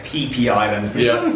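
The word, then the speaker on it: Phi Phi: It's spelled Fifi Islands. Okay, it's actually pronounced PP Islands, which doesn't sound very nice.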